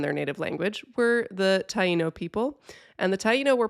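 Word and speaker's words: Taíno: By the way, I pronounced the name of these people as Teno on our original mini episode and then I heard elsewhere it was supposed to be Tyino and I was like, "Oh no, I said it wrong."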